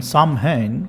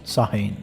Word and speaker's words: Samhain: Despite this spelling sounding Samhain, it's actually pronounced Samhain.